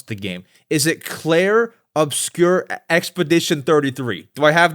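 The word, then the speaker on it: Clair Obscur: I can barely pronounce the game. Is it Claire Obscure Expedition 33?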